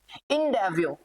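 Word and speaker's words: endeavour: incus ठीक है incus इन डेवो अब इस भाई साहब इसको इन डेवो है ये इन डेवो र नहीं है र नहीं बोला जाता है ये र क्या रहेगा साइलेंट रहेगा इन डेवो इन डेव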